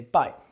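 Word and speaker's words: 拜: So this either way this character is pronounced by and it means goodbye.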